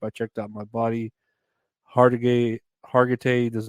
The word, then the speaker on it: Hargitay: Oh my god, I can never say her name. Hargitay.